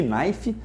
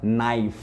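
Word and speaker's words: knife: letras mudas o primeiro essa letra k no início ninguém fala que naif então esse café esquece tá mas e termina com f só que se é também não é pronunciada a gente fala naif com f mudo e com o plural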